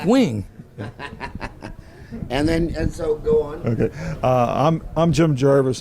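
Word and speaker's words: Nguyen: in her good side this is how you pronounce her name it's wings she said she say they tell me that she told me that to pronounce her name mooing I say it's because you kept bastardizing her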